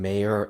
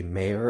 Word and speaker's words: Meyer: slash of angela forrest she pronounced julie meyer and susan meyer as susan mayer and julie mayer and that is how it's spelled but i guess they decide to pronounce it differently somewhere down the line so that's what happened